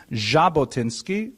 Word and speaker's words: Jabotinsky: In order to make the jack sound, you actually have to add a d to the Russian alphabet. So his name is actually Jabotinski, if you can imagine. That's the way the French would spell it with the J as well. Uh but it's often transliterated into English because we don't have the sound so popularly as a simple J.